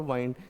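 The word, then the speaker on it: wind: यानी वाइंड, इसके दो प्रोनाउंसिएशन है, विंड और वाइंड। जब इसे वाइंड बोलेंगे तब ये वर्ब होती है, और इसकी 3 फॉर्म्स होती हैं।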